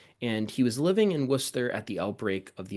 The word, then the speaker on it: Worcester: And yes, if you're not from the area, that is pronounced Worcester, or as locals would call it, Worcester, not Worcester or some other derivative of that.